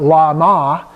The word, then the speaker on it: Lama: Now, Lama is an exception because we say not Lama, but Lama. So it gets pronounced slightly differently.